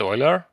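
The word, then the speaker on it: Euler: talking about is Oiler I think you pronounce it Oiler and what you're talking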